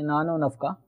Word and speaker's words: نان و نفقہ: میں واو آتا ہے، اور ہمارے اردو تلفظ کے اندر جب 2 چیزوں کے درمیان واو آ جائے تو ملانے کے لیے واو کو پچھلے لفظ کے ساتھ ملا کے نان و نفقہ یوں بول دیا جاتا ہے، جیسے لیل و